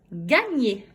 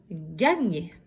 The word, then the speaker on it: gagner: Gagner. Gagner. Fais pause. Alors, dans gagner, combien de syllabes? Gagner. 2 syllabes. Dans quelle syllabe j'entends le son gne? Gagner. Oui, j'entends le son gne dans la 2e syllabe.